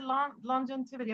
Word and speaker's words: longevity: Yeah, go longev. Go longev and then add the rest. Longevity. Longev. Okay. Start it out. Not lingerie, but longev.